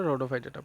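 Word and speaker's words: Rhodophyta: পড়ার সময় আমরা পড়বো রেডোফাইটা।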